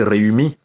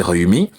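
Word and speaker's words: Rewmi: À côté, il y avait aussi un dernier parti important, le parti Réumi. Réumi de Idrissa Seck. Réumi signifie le pays. Ça s'écrit, c'est aussi en Wolof, ça s'écrit R-E-W-M-I.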